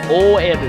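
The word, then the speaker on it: オーエル: But the female ones are in fact called OL, or Oeru as it's pronounced in Japanese.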